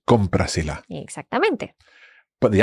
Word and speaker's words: cómprasela: So we would replace that le for se. Mhm. Cómprasela. Cómprasela. So you can hear it runs off the tongue much more easily. Yes. Cómprasela, as opposed to cómpralela.